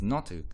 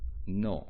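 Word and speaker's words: の: And this is actually similar to um Japanese No. So this is pronounced like no and this word um or this particle has a similar function to possessive s.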